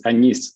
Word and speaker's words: Agnès: Anyways, in France, it's Agnès, for example.